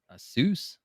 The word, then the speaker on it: ASUS: I think you pronounce it Asus.